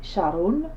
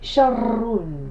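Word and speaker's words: شَرٌّ: Alors, j'ai pas dit sharun, j'ai dit sharrun. Donc, j'ai insisté sur le ra.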